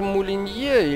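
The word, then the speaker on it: Molyneux: мулен поешь ты питер молинье или или если уж его фамилию произносить так как ее произносят в рекламе техники moulinex а пишется оно абсолютно также вот так же как название этого бренда mulia это мечтатель он просто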